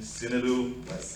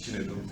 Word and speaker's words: Chinedu: Some people are calling me Sinedu, Amanda. So, but for the record, my name is Chinedu. Oh man.